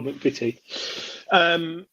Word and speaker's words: McVitie: Oh, McVitie.